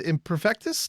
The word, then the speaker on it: Imperfektus: And Meade here is with Imperfektus.